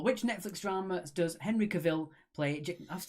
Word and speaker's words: Cavill: Number 4, which Netflix drama does Henry Cavill play? I have to say it like you know. It's Cavill, it's not Cavill.